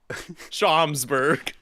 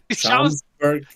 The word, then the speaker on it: Schaumburg: Schaumsburg. Schaumburg.